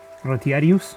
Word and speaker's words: Retiarius: And then there's the Retiarius, yes, I said it right, which is the